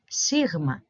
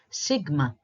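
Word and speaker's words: σίγμα: This is another one that is changed in English, and the pronunciation in English is sigma, sigma. It's not a G, as we said before, so I suggest you replace the G with a W, and you try to pronounce it as sigma, sigma.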